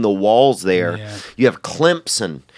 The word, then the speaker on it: Clemson: walls there you have Clemson you know they pronounce it with a P in it but it didn't even have a PA and Clemson but they call it clumps and yet if you